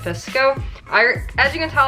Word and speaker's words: VSCO: edit my photos as visco VSC vsco everybody's pronounces it fisk oh alright as you can